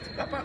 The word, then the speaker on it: Te Papa: Te Papa.